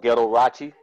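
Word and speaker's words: Ghetto Rauchi: I have a comedy special called Ghetto Rachi. It rhymes with Liberace, but it's spelled Ghetto Rachi, G-H-E-T-T-O-R-A-U-C-H-I.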